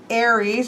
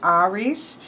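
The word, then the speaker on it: Ares: Here we, of course, have Aries, I've always said, but Chris pronounced it Aries.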